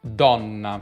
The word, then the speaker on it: donna: buona pronuncia il come come dona donna poi con una doppia n do min la donna